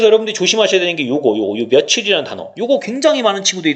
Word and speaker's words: 며칠: 여러분들이 몇 일이라고 바르며 여러분도 발음은 며칠이 라고 합니다 바로 며칠이 라고 하잖아요 어디라고 바람 안하죠 금속에 이게 맞다고 생각하시나요 그쵸 요게 맞는 거에요 게 며칠이 맞는 겁니다 그리고 원래 우리 국어의